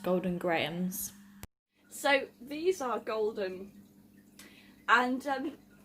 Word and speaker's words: Golden Grahams: grahams golden graham grams golden grass golden grounds graham golden graham golden ground and graham that just sounds really weird i have since discovered that it's pronounced golden grahams so these are golden